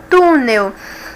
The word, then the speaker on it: túnel: é esse papel papéis agora a palavra túnel nós temos até um acentinho aqui ó vai me indicar que é uma paroxítona túnel então vai ser tu